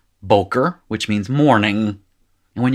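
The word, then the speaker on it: בֹּקֶר: syllable would be and the accent is moved forward boker which means morning and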